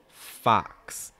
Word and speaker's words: fox: a fox fox fox will again have that awe sound make sure it's not fox it's more fox not oh it's more ah wide really wide mouth back in front of your tongue down same thing with the next word